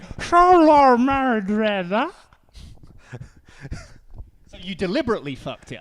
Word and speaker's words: Xolo Maridueña: No, you said Xolo Maridueña. So you deliberately fucked it up. I don't know how you pronounce it.